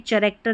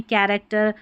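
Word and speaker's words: character: और यहां पर देखिए चैरेक्टर नहीं कैरेक्टर। चोरस नहीं कोरस।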